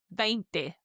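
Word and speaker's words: veinte: Now the big number 20 the 2 is pronounced vent.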